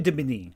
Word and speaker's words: Julie d'Aubigny: Julie d'Aubigny was a Debigny. So Julie Debigny.